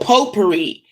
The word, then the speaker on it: potpourri: those bags of potpourri, but it's spelled potpourri, but potpourri, and you would put